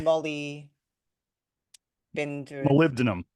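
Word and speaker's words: molybdenum: selenium and this other one which you can pronounce Molly Bend mum um it's okay here here's what I tell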